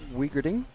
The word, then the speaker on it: Wiering: champion in this category Marco uh wiering which is apparently how you say it you don't say the the the W as a V for his name I don't know I don't